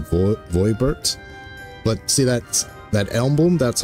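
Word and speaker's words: Voeburt: A Verbert gold piece, no less. The first I've held in years. See, yep. See, that's... I guess they could pronounce it Verbert. I was always pronounce it Voibert.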